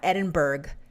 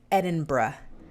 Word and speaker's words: Edinburgh: he lives in edinburgh scotland that's how you pronounce that it's not edinburgh it's edinburgh which i have to deliberately concentrate and make